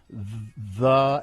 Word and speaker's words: the: go this is okay people including newscasters pronouncing thee as the instead of the when it precedes a word with a vowel uh the words either